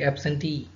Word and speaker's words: absentee: of these suffixes or stress on the last syllable for example employee so it's ending with EE addressee referee absentee that's in the examinee devotee so the stress is on the last level M law e at